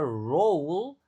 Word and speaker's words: role: Nah, ini cara bacanya roll ada jadi kayak ou. Roll tulisannya o tapi dibacanya ou.